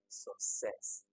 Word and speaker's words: success: Okay, definitely success. All the other ones have it on the first one. Clever, banker, driver, success. Okay, so success has it on the second syllable.